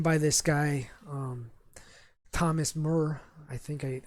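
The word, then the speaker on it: Muir: this guy um thomas murr i think i i think you pronounce it murr and uh it's it's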